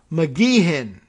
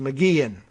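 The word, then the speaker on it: McGeachin: the pronunciation gun uh mcgehen there's no ch sound it's just mcgean okay idaho's lieutenant governor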